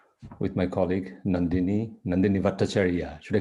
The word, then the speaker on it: Bhattacharya: bhattacharya i'll call you no they didn't have a clue how to pronounce your names which is why there are at least six uh um spellings and pronunciations of bhattacharya but i find that this one has become you know more or less standardized in india the way i've just pronounced it and so i prefer to go with it rather than confuse people with variety yeah that's that's that's